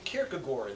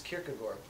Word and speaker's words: Kierkegaard: kierkegoor and he said I don't know that's how they say it there now so I was like all right well I guess it's kierkegor so Chloe and I